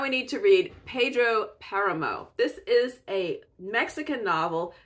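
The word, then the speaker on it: Páramo: And interestingly enough, both 100 Years of Solitude and Pedro Paramo, the accent's on the first syllable, so I think Paramo. I wanted to say Paramo, but I think it's Paramo.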